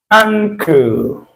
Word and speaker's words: ankle: The sound that is being enclosed in bracket here appears in this ng. Tongue.